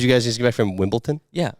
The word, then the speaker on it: Wimbledon: back from did you guys get back from Wimbledon yeah Wimbleton Wimbledon Wimbledon Wimbledon that's not it Wimbledon at